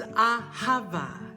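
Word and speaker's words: אהבה: word named haba yeah the word for love in Hebrew is Ahava three syllables of such great relaxing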